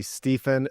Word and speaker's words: Stephen: So it's actually Stephen, but most people don't pronounce it that way. They pronounce it with a V.